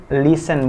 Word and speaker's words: listen: Ingat, T dari kata listen itu nggak dibaca. Jadi cukup listen, bukan listen, tapi listen.